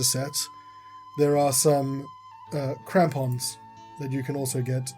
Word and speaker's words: crampons: not they the the kampion might be useful I did I pronounce it correctly it says crampons mispronouncing now you're throwing